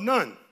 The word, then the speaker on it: Nun: was the firstborn of Nun. Actually pronounced Noon, but we'll just stick with Nun for this morning, all right?